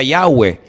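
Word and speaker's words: Yahweh: y he Bad hei verdad ese nombre se pronuncia yahwe Ese es el nombre que aparece en el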